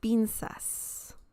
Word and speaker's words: pinzas: Remember, the Z sound in Spanish is very similar to the S sound in English. So you don't have to say las pinzas. You can say it just like an S sound.